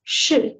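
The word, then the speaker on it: 示: It's pronounced in Chinese as shi, and it means to show, to reveal, or to guide.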